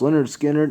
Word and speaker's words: Lynyrd Skynyrd: We have a double album here, and that is pronounced Lynyrd Skynyrd and Second Helping by Lynyrd Skynyrd.